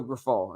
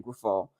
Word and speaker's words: Grifol: And now you're hiring a guy, Pedro Grifol, and that's how you pronounce the last name, Grifol, who I'm just happy because he's from another organization.